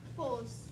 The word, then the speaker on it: boss: Okay, I'm hearing I'm hearing you may be Both. saying that word, both. Okay, Both. so I think it's a verb sound. So both, that's a long O sound, A-E-I-O-U, but this is a short O sound. Boss.